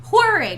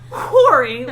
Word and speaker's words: whirring: We pronounce the H here, Catherine. We are whirring. We are not whoring.